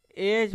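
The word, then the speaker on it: edge: तो डी हमारा क्या हमारा क्या हो जाएगा साइलेंट हो जाएगा डी को हम नहीं पढ़ेंगे क्या पढ़ेंगे इसको? एज पढ़ेंगे।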